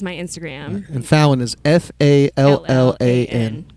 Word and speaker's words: Fallan: And Fallan is Fallan. Correct. Yep. So not like Jimmy Fallon. Fallan. It sounds like Jimmy Fallon, but it's spelled a little different.